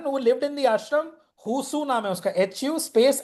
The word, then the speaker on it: Hsu: Oh, There was a Chinese person who lived in the ashram, Husu naam hai uska, HU space HSU. This is how his name is spelled, okay?